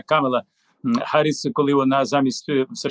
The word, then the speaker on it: Камала: вдалий хід помели помели кажу в камели наголос на перший слог Да камела харіс коли вона замість